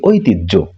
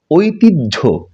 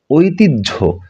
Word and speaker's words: ঐতিহ্য: পাচ্ছি এটিকে আমরা বলি ঐতিহ্য কিন্তু শুদ্ধ উচ্চারণ হচ্ছে ঐতিহ্য ঐতিহ্য হ এর সঙ্গে যদি জ ফলা থাকে তাহলে এর উচ্চারণটা হবে জ এবং ঝ এর মিশ্রিত একটি রূপ বা সমন্বিত রূপ এরপর আমরা এটিকে বলি